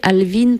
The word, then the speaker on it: Alvin: voilà tu as rien changé moi je prononce Alvin c'est bien ça c'est pas Alvin ou c'est bien encore trop de quoi non mais Alvin ça va c'est vachement plus joli que à